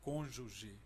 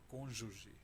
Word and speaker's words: cônjuge: Eu estou dizendo, Dido, que você pode ser ministro porque você pronuncia cônjuge. Você ainda agora estava falando, lendo um texto e pronunciou cônjuge.